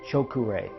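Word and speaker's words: Cho Ku Rei: silly power increased symbol it is pronounced choke array practice drawing it and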